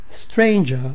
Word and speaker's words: stranger: Stranger does not rhyme with anger, neither does devour with the clangour.